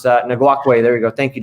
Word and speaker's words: Ngakoue: I'm not going to pronounce that. Ngakoue, there you go.